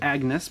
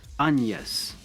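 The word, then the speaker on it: Agnès: is it looks like Agnes but it's not it's anas the the g is silent and it's like an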